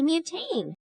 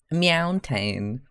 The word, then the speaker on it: Meowtain: A mutane. Tiny, you butchered that one with your pronunciation. Meowtain. Excellent, excellent.